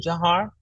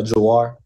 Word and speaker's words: Jawhar: saying your name right is it jar no ma'am it's uh jair jair okay I want to